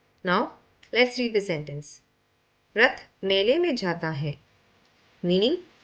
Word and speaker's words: र: The ra is pronounced as ra, like the ra in the word rabbit. Let us see an example.